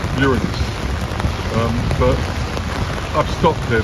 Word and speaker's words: Uranus: I mean, it's a it's a simple joke, but technically, I want to get technical, but it's pronounced Uranus.